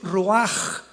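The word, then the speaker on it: רוח: La palabra para espíritu en el hebreo es la palabra que es roaj, que se escribe ruach con ch. Pero repito, ese pronuncio pronuncia como J. Roaj.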